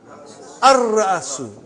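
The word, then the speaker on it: الرأس: How will you pronounce? Ar-Ra'asu. Not Al.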